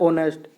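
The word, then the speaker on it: honest: या है नहीं आएगा ओ से स्टार्ट होता है ऑनेस्ट एच साइलेंट है ऑनेस्ट गर्ल नेहा इज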